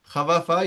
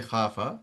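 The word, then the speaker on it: خاف: Khawafa, you can't say khawafa, you'll say khafa.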